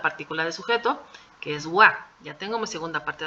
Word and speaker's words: は: le ponemos la partícula de sujeto que es Wa ya tengo mi segunda parte de la oración